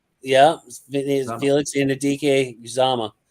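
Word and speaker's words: Uzomah: Felix in a DK uzama I would say uzama because the CJ is almost felt the same way uh sub rusher extraordinaire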